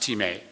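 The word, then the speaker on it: τιμή: honor / value it's spelled t-i-m-e but it's pronounced teammate in other words Paul writes here that we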